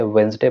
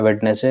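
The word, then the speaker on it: Wednesday: He drives on वेंसडे, वो सिर्फ कब चलाता है, ड्राइविंग करता है, वेंसडे को, इसे वेंसडे पढ़ते हैं, वेडनेसडे नहीं पढ़ना है।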